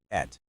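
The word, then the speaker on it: את: It's pronounced et.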